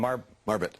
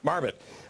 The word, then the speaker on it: Marbut: Marbut. Marbut.